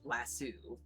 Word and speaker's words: lasso: Wes, um, Juliet says, "Also, did you know that the UK folk pronounce lasso differently as lassu?"